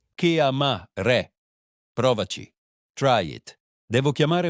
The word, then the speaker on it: chiamare: The pronunciation is hard. Chiamare. Chiamare.